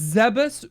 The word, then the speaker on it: Zebes: It's Zebus. That's how they pronounce it in the games, not in this game, but in the games that they have voice acting. Yeah. Which I don't think that's right. Honestly. I think it's Zeb.